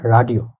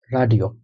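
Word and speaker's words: Radio: প্রথমটা হলো মোটা, ওটা রাডিও।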